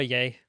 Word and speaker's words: Ye: he actually go by yay he had it legally changed to y e pronounced yay genius anyway big brain